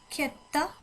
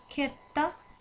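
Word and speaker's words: sjätte: খেত্তা খেত্তা এখানে উচ্চারণটা খ, খ, খ, মানে গলার ভেতর থেকে শব্দটা আসবে।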